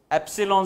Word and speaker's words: epsilon: 0 what is this epsilon 0 this symbol is to be pronounced as epsilon 0 e p.s.i L